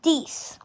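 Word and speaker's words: dix: e u f and ten is these um so and these is spelt d i and x so d i x these and 11 is not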